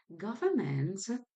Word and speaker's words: government: of knowledge and information governments remember to have that n in the word government because while we use it um in the spoken language we don't pronounce or hear it that much emphatic so that's